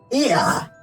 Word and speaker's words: Ia: When the vibration of vocal phones was still required to convey our thoughts and intention, Ia, I believe, was a pronunciation used when referring to our people.